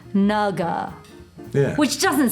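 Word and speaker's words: 那个: Where I'm from in Taiwan, or my family's from, it's that same word, but it's pronounced like naga, Yeah.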